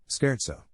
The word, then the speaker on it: scherzo: Just as a good rule of thumb, in Italian ch sounds exactly like a hard K. Chimera? Camara. Scherzo? Scherzo.